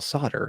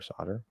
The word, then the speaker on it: solder: think in my opinion both of those pronunciations are fine solder solder solder is probably better but I think they're both okay um that's a random